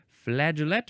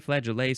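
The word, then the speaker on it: flageolet: I forgot the G here's the g e o l e t flaget or flag flaget seems more accurate it's um looks like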